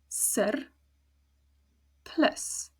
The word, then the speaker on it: surplus: Then if we move on to surplus, sur, plus. 2 syllables, both of them are closed because both of them end in a consonant, so it's a it's very short, surplus.